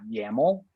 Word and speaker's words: yml: database dot yml um the way you would pronounce that is dot yaml so database.yaml so the